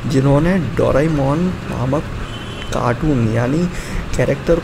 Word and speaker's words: Doraemon: Then क्या आपको पता है कि जो डोरेमोन है उसका प्रोनाउंसिएशन डोरेमोन होता है, और डोरेमोन का दो जैपनीज वर्ड का मिक्सचर है, डोरा प्लस ईमोन, और इन दो जैपनीज वर्ड का मतलब होता है आवारा मेल कैट।